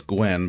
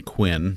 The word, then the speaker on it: Quinn: Martha wants to know, she's saying who's Gwen, but it's my pronunciation. I'm saying Quinn.